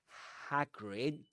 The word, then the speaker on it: Hagrid: In both words, you've got the same a sound at the beginning. If you noticed, Hagrid. Harry. Okay. Agrid with a long e at the end. Hidrid but with an a sound at the beginning. The same you'll hear in words like cat.